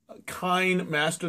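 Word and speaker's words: KineMaster: using some software called kind Master that's k i NE I hope I'm pronouncing it right because it would same as sine wave so k k Master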